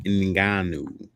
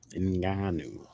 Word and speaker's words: Ngannou: I think family is pronounced Ngannou. Ngannou.